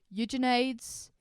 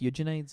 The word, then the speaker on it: Eugenides: But Virgin Suicides rhymes with Eugenides, and that makes my brain happy a little bit.